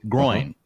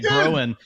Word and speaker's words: groin: always pronounce it wrong but it's coin with a gr in front so groin did I do it right there hard I know normally I say growing which is really a